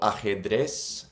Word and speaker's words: ajedrez: So ajedrez is chess. It's not ajedrez, like we would say, ajedrez. Ajedrez. That's how they say chess.